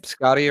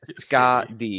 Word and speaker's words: Skadi: And the Norse pronunciation is either Skadi, Skardi, or Skathi, depending on Skardi makes a lot how it's terms of related.